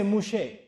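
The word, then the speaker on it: משה: And they don't say Mūsá in Hebrew, they say Mushe.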